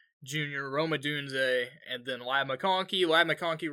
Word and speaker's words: Ladd McConkey: Ladd McConkey.